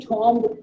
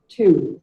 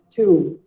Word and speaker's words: tomb: I used to call it tomb for years. Some of you might even call it tomb, but the actual pronunciation of the word is tomb. It is simply called as tomb.